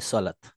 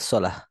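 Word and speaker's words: صلاة: যেমন আমরা বাংলায় বলি সলাৎ, হুম তো সলাৎ বললে উচ্চারণটা ভুল হচ্ছে, মানে শব্দের অর্থ ভুল পরিবর্তন হচ্ছে না, কিন্তু উচ্চারণ ভুল হচ্ছে। বলা উচিত ছিল সলাহ, সলাহ, রাইট।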